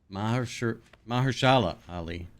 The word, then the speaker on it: Mahershala Ali: It's Mahershala what pronunciation? Mahershala Ali.